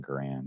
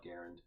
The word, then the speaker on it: Garand: I know people are going to criticize the way we're pronouncing that, but I'll call it Garand. You call it Garand. Garand, yeah, I know. It's like there's this recent revisionist with the M1 rifle, and it's just now called the rifle how John Garand pronounced his name.